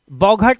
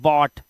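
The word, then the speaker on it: bought: जैसे BOUGST, तो इसे बौघट या बफट नहीं पढ़ते, इसे पढ़ते हैं बॉट, सिर्फ बॉट।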